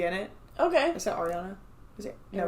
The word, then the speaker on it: Ariana: And, like, everything she said was so very, like, that's the only part of Ariana that I can see in it. Okay. Is that Ariana? Is it? No, it's Ariana.